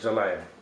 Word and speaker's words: Zelaya: Zelaya.